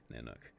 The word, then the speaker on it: Nanuq: No, it's spelled Nanuq. Nanook.